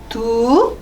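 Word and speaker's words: 读: 얘는 발음이 칭시에 이제 적으세요 라는 뜻이겠죠. 적으세요. 그리고 읽다 독서 할 때 독자거든요. 읽다 두 이성 두 그러면 칭 했다가 바로 두로 올라갈게요.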